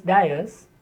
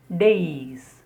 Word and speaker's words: dais: The next word is mostly mispronounced as dais, but actually it is dais. Day and then is.